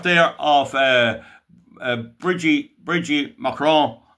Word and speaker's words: Macron: Molly, you see the photograph there of uh Bridgie Bridgie Mron Mcron, you don't pronounce the N.